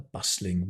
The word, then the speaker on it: bustling: You can talk about a bustling city, a bustling office, a bustling workspace, okay? Don't pronounce the T, bustling.